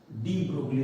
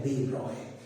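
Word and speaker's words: de Broglie: वास्तव में आपको इस वर्ड को कहना चाहिए, सही जो उच्चारण है उनके नाम का है वो है दे ब्रॉय, लेकिन लोग डी ब्रोगली कहते हैं तो आपको ठीक लगेगा, मैं भी कह लेता हूँ।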